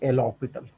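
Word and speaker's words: L'Hôpital: एल लिखते इस तरीके से हैं कि लगता है कि हॉस्पिटल लिखा हुआ है, लेकिन इसको प्रोनाउंस करते हैं एल ऑर्बिटल।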